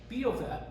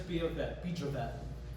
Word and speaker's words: Bijvoet: Biovet, this is what I think is the most important house, my favorite house in the world in Paris.